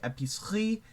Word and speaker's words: épicerie: So a lot of words they will have an E like enjammed in the middle of it, and you don't say it. So like épicerie, fromagerie. I over stress my R's. Please ignore that. Épicerie, horlogerie. You just don't pronounce the E.